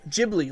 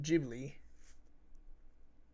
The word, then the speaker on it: Ghibli: G but the Creator Miyazaki pronounces it with a soft G that's funny okay okay